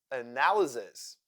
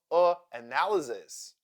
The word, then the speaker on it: analysis: Y as sound schwa, analysis. The second syllable in this word is also unstressed, and that is why Y sounds like Therefore, analysis.